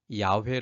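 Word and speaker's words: 야훼: 시 라고 소개하고 있습니다 여와 단 이름은 요즘 새롭게 받음을 찾은 바에 의하면 이 아 회 라고 발음이 됩니다 그 뜻은 스스로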